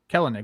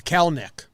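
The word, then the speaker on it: Kelenic: not work that way kell and nick what do i keep saying it's cal neck kill nick two syllables ignore that second name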